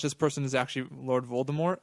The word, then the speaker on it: Voldemort: anyways that I live T is silent Voldemort he's supposed to be full more I think yeah it's